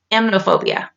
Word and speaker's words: emetophobia: But I believe it's called emetophobia. That's how you say it.